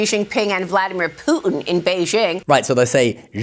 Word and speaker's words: Jinping: Jinping. Now, if we add the tones, it's going to be fourth tone then second tone, Jinping.